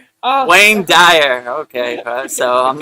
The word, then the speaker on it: Wayne Dyer: I'm trying not to mess it up like Dwayne Dwire, you know?